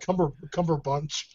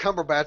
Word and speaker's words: Cumberbatch: I thought I heard Cumberbunch. I was trying to laugh about that. It was like someone said Benedict Cumberbatch. I said Benedict Cumberbatch because I never get his name wrong, unlike all you yahoos.